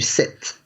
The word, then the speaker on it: cette: to change it to cet. Exactly. So cet après-midi. And listen carefully to this feminine version. Cet après-midi. It sounds exactly the same, but it's spelled differently.